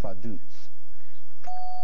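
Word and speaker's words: Vaduz: whose capital is fadoots let me spell that f a d u z it's pronounced faduts Christine Lichtenstein correct toss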